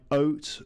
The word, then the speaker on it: oat: Here the second letter is A, and that's silent. So it's the first letter, O and E, which are pronounced in the examples. Okay, so oat, the O is the vowel which dictates how you pronounce it, and eat, it's the E. So when two vowels go walking, the first does the talking, all right?